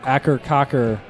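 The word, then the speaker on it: Akercocke: cur even though they pronounce it a cur Cocker my Ben Tennyson pronounces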